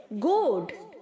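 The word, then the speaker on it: goad: Okay, गोड, गोडेड, गोडेड। यहाँ पर जो बच्चों A है वो साउंड नहीं करेगा, जैसे GOD होता है वैसे ही हम इसे साउंड करेंगे, गोड, गोडेड, गोडेड।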